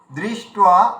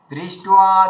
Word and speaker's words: দৃষ্ট্বা: আমরা বাঙালিরা কি করি, যেখানে দয় রি থাকে উচ্চারণ করার সময় দয় হর্ষি উচ্চারণ করে দিই, এবং দৃষ্ট্বা বলে দিই।